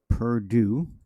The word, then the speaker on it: Perdue: U.S Secretary of Agriculture Sunny Perdue that's how you pronounce it announced the national bioengineer